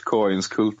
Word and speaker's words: Kainskult: It's not that far from the Swedish pronunciation. It's Kainskult in Swedish.